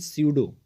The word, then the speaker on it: pseudo: तो जो पहला पार्ट है दैट इज स्यूडो, PSEUDO, ये स्यूडो है, पी साइलेंट है।